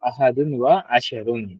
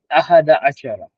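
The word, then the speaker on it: أحد عشر: अहदुन व अशर ओके लेकिन यह अरेबिक जो हैली इनकरेक्टिकली यानी उनकी प्रोनाउंसिएशन के हिसाब से जो है यह एक इनकरेक्ट चीज है असल में जो है वह कहते हैं अहद अशरा अहद अशरा यानी कि 11 तो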